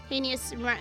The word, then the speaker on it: heinous: we don't know sky heinous rhymes with anus it does rhyme with anus anus heinous or i